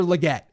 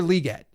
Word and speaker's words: Legette: So I'm big on pronunciations. I've learned that it's not Xavier Legette, it's Xavier Legette.